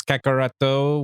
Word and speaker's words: Kakarot: it, which is in Kakarot, sort of, but not really. Yeah, we've had it explained because in Japanese it's Kakarato with the like O that is not there in the English translation.